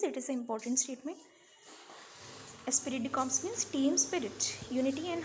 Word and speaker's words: esprit de corps: So spelling is ESPRIT DECORPS, Esprit de Corps. So it's the pronunciation Esprit de Corps.